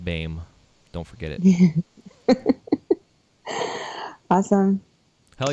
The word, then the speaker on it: Boehm: And her last name is spelled Boehm, and it's pronounced Boehm.